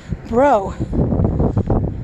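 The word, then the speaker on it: Brault: Bro. B-R-A-U-L-T is pronounced Bro. Beautiful French name.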